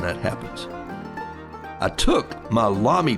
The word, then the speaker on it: Lamy: happens i took my lamy pen pronounced like mommy in the words of